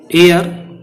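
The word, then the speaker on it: heir: एयर, इसको हेयर मत बोल देना, एच इसमें साइलेंट है.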